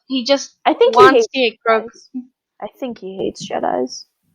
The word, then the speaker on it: Grogu: I'm sorry, did you say Goku? Is that not how it's pronounced? It's Grogu, not Goku. Grogu.